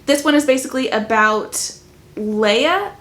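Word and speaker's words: Laia: one is basically about Leia I think is maybe how you pronounce the name it's l a i a the only way that I can think to say that would be Leia so that's what we're going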